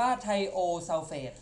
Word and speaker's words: ไทโอซัลเฟต: อัน นี้ นะ ครับ S2 o3 2 ลบ อ่าน ว่า ไทโอซัลเฟต ให้ เปลี่ยน ตัว หลัง at เป็น ไทโอซัลเฟต ตัว นี้ ออก สอบ